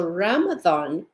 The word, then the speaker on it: Ramathon: So Ramathon, and if you'll hear how I'm saying it, it sounds like it has a TH in it.